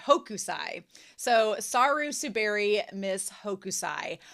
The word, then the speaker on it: Hokusai: And they chose this movie that I've been getting its name wrong all week, but it is Saru Subi, Miss Hosukai, Hokusai.